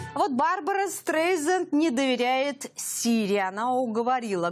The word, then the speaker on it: Стрейзанд: В нынешней версии программы Siri произносит фамилию Стрейзенд через букву «З», через звук «З», тогда как на английском языке она читается через мягкий звук «С» – Стрейзенд.